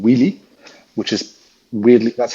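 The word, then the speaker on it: Wylly: is hugely successful it's in France it's called wheelie which is really that's how it's pronounced in French uh it's weirdly spelled for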